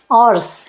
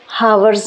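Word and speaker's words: hours: आवर्स, इसको हावर्स नहीं बोलते, मैंने आपको पहले ही बोला था ना, फेनेटिक्स जो होते हैं, जो प्रोनंसिएशन होती है इंग्लिश में, उसमें ये जो एच है ये साइलेंट है, तो इसको हम आवर्स पढ़ते हैं।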